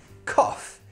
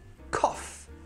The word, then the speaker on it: cough: Cough. So in this case, it sounds like off. Cough.